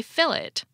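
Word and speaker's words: fillet: here's a fun example most of us in the US say filt a lot like French without pronouncing the T however in Australia the word is fully assimilated into Australian English they say fill it plus you most likely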